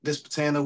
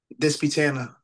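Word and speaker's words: Disputanta: Hopewell, which is approximately about 15 minutes from Dispatana, which is where Greene's is located. Okay, so you live in Virginia? Yes, sir. Okay, gotcha. And how do you say the town that Greene's is in? Dispatana.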